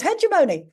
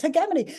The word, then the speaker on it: hegemony: across one recently hegemony I thought it was hemony right I'd never heard anyone say he hegemony before I thought it was Hony apparently it's not it's hegemony sup sometimes you've got a pronunciation for a